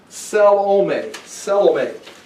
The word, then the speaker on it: Salome: I would check the pronunciation. Salome.